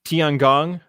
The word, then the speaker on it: Tiangong: And then even doing the I don't know how to pronounce it. The Chinese space station, the Yeah, the Tiangong. Tiangong. Tiangong, yeah, Mhm.